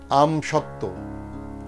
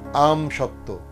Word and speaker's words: আমসত্ত্ব: আবার বলছি যুক্ত ব্যঞ্জনবর্ণে যদি বফলা যুক্ত হয় তাহলে সেই বয়ের উচ্চারণ থাকে না। যেমন সান্ত্বনা, সান্ত্বনা, সান্ত্বনা। দ্বন্দ্ব, দ্বন্দ্ব। উজ্জ্বল, উজ্জ্বল, উজ্জ্বল। তত্ত্ব, তত্ত্ব। উচ্ছ্বাস, উচ্ছ্বাস। পার্শ্ববর্তী, পার্শ্ববর্তী। আমসত্ত্ব, আমসত্ত্ব, আমসত্ত্ব।